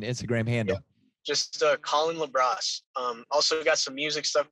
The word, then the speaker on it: LaBrosse: Collin with 2 L's, and then LaBrosse is spelled like lacrosse, but with the B.